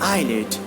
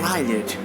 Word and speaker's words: islet: The letter S is not pronounced before L in the following words. See here, this is not Iceland, this is not Iceland or Island, this is not Iceland, this is not Islet or Islet. Correct pronunciation is like Isle, Island, Isle, and Islet.